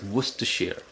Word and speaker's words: Worcestershire: I'm also going to add in some Worcester sauce, and for those who can't pronounce it, it's Worcestershire.